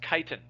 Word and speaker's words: chitin: some letters that beget some words that begin with ch have snuck into biology that we pronounce is a cha but chitin is not one of them so you pronounce this word as chitin okay so yeast and